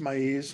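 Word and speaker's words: maize: i saw somebody help me is it is pronounced my ease not me okay okay keep correcting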